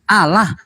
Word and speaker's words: Allah: ejaannya saja sudah salah ejaan sesuai KBBI a l l a h kalau dilafalkan ee dengan baik dan benar Seharusnya kan Allah Allah orang Kristen nyebutnya apa apa alah alah alah alah Apa itu tidak